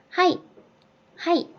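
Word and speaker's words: はい: 순서대로 연결만 해주시면 되요 4 는 하이 하이 이렇게 발음 하구요 하이 험 100 하이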